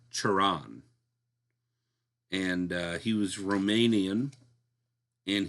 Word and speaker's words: Cioran: Cioran.